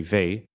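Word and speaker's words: Weil: the 20th century Andre V it's spelled with an L but I learned recently you don't pronounce the L in the end he solved this question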